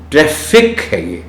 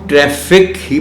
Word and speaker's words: ٹریفک: Note کر لیں کہ یہ چونکہ لفظ ٹریفک انگریزی سے اردو میں آیا ہے، یعنی ہم نے اس کو بیان ہی اسی طرح انگریزی سے اردو میں ہم لے آئے ہیں، تو پھر اس کو بہتر یہی ہے کہ جو اس کا تلفظ انگریزی میں ہے وہی ہم اردو میں بھی رکھیں. ٹریفک ہے یہ، FFIC، TRAFFIC، تو اس کو ہم ٹریفک ہی پڑھیں.